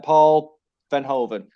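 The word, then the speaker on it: Paul Verhoeven: mike just give me the directors fall uh paul van hoven that's how you say his name vernon bernhard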